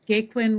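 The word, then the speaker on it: Gaquin: just my the spelling of my name it's gwiin with ah no second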